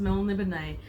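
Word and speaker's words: Melniboné: I only found out, embarrassingly, last year that it's pronounced Melnibone, and despite the source being completely and utterly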